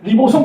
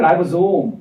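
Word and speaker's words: ribosome: 근데 여러분이 가서 미국 가가지고 리보솜 그럼 못 알아들어요. 라이보솜이라니까 라이보솜. 라이보솜.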